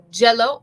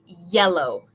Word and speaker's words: yellow: So, we don't want to say jello. We want to say yellow. Yeah, yellow.